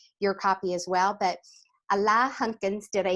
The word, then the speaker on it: Alain Hunkins: But Alain Hunkins, did I say it right?